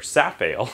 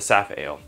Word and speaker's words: Safale: actually fermented faster than the safe or sap ale i've been saying it wrong the saphale and that's okay so